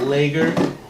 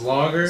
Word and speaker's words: lager: Shout out to all the people that Shout out to all the people that told us that we were pronouncing lager wrong. Oh yeah. We're calling it lager, and it's lager.